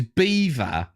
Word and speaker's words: Belvoir: Belvoir is Beaver.